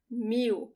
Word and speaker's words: mil: video description okay 1000 mu now you have to look at the pronunciation of the l when it's the last letter of the word so listen to me i do not roll that l mew from here